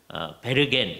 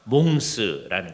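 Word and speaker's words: Mons: 자, 이 귀도라는 사람은 몽스라고 하는 지역 이제 출신인데요. 지금의 몽스의 장면이 저기 보입니다. 이것은 에노라고 하는 지역의 중심 도시가 몽스입니다. 독일어로나 화란 말로는 베르겐, 독일어로는 베르겐, 그리고 화란어로는 베르헨 그렇게 얘기합니다.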